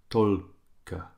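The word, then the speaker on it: только: So as soon as is kak tolka. So kak tolka. So tol is where the stress is, ladies and gents.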